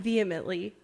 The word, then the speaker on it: vehemently: Vehemently. It has an H in it, so it kind of throws you off.